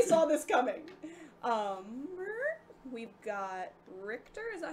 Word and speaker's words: Richter: We've got Richter. Is that how you pronounce his name? Yeah. It's Richter.